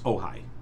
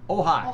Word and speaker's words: Ojai: Oh, it's Ojai. Ojai. Yeah. Ojai.